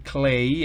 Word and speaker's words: clay: Fíjese que sobre la A de clay, en la pronunciación, en el fonema, que está entre corchetes, sobre la A está la rayita esa, que significa que se pronuncia en su forma original.